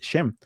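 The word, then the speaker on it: שֵׁם: Aquí la palabra nombre en el hebreo es la la pronunciación o la la vocalización es shem.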